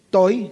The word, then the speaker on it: Toy: Hay un un profesor llamado Toy, no es Toy Tori, ¿verdad? Toy, así como se escribe, que es es el autor de un comentario crítico y exegético del libro de Proverbios.